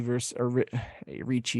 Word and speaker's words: Ricci: We're gonna start off with Tabitha Ricci Ricci, yeah, that's how you say it, versus Jessica Penne.